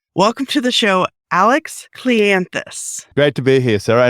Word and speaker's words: Cleanthous: Most people think it's Clean House or Cleant House or Clean the House or whatever you want to call it.